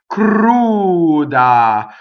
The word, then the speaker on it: cruda: The r in this word rolls because it touches a consonant.